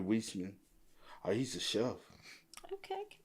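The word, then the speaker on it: Weisman: He got uh It's like Westman's. It's hard to pronounce. It's W E I S M A N. Whisman. Probably Whisman.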